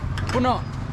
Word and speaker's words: puno: Puno.